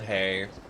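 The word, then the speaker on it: ה: Hey is pronounced like the H in hello. Like H in English, it's silent at the end of words.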